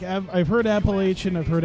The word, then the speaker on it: Appalachian: I was like, I've heard Appalachian, I've heard Appalachian. People from App State get mad if you say it the way the mountains are pronounced.